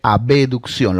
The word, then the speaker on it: abducción: Cuando está haciendo separación se llama abducción, que para efectos de nuestro curso vamos a decirle abducción. Lo vamos a pronunciar así para tener menos dificultades, menos confusiones, ¿ya?